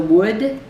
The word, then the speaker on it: would: So would, should, could. Would, should, could. Okay, so that's the last sound of OU. Also, when we're doing that, the L is silent.